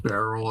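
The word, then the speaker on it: Barrell: Most will say it's pronounced barrel at this point. I was calling it Burrell for several years before anybody suggested that to me. I think it's really cocky to call it barrel.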